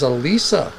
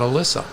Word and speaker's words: Elisa: So it is Elisa, not Alyssa.